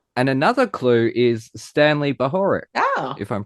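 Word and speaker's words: Bahorek: And another clue is Stanley Bahoric, Oh. if I'm pronouncing that correctly.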